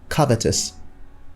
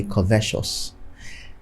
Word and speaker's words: covetous: we have here is covetous covetous now in Nigerian English you'd probably hear someone say Co vessels then when it turns